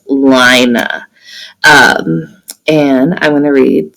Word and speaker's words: Lina: here and they say i pronounce it lina but the movie will pronounce it lena so um i'm gonna pronounce it like the author wanted us to which is lina and i'm going to